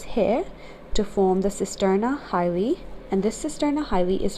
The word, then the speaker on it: chyli: It starts at the T12 vertebra after the cisterna chyli, or the cisterna hyli. The C is silent.